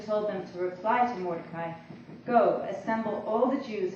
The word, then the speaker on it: Mordecai: at work, that Mordecai, I always pronounced it Mordecai, I'm sorry. I will continue with my pronunciation since it's of course correct.